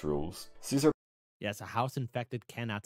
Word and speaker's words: Caesar: to have ever lived his name was G Julius Cesar and that's how you pronounce it but I'll call him gas Julius Caesar anyway saves me the